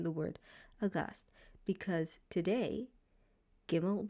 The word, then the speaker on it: gimmel: word august because today gimmel will only ever make the g sound as in the word goat. So you don't have to worry about gimmel changing sounds because we're using the modern pronunciation.